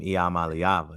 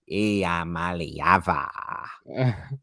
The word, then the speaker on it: Iamaleava: Y'all better get ready to say his name, Iamaleava. You heard me? Iamaleava.